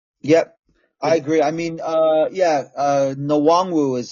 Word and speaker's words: Nwangwu: I can't remember how you pronounce his name. Is it Mwango? Number 35, I think. Kenny Nwangwu. Yeah, there you go. Nwangwu.